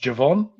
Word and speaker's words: Javon: It's pronounced Javon. Javon Andrews. Javon.